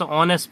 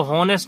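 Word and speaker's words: honest: ही is dash ऑनेस्ट person, तो इसको हॉनेस्ट नहीं पढ़ेंगे, ऑनेस्ट पढ़ेंगे। ऑनेस्ट है इसलिए जो है इसको क्या करेंगे, एन होगा।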